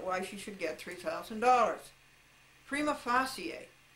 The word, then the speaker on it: prima facie: After several years of Latin, I believe that that's correctly pronounced prima facie.